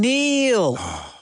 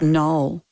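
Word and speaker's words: Noel: Liam and Neil. It's null. Just what it is. That's just what it is. He mispronounced it.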